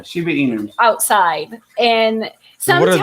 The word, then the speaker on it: Shiba Inu: We have Shiba emus. Is that how you say it? Yeah, Shiba Inu.